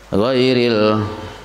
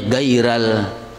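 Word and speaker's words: غير: Ghairil, kayak itu bacanya dibaca gairal, arti kada berubah.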